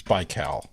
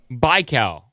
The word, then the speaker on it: Baikal: It's pronounced Laurel. Laurel? Lake Laurel? It's Baikal. Baikal.